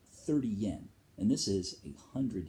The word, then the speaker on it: yen: Next step down from that is the 10 cent, okay, or the 10 yen, which they don't pronounce the Y. It's N. 10 yen, all right.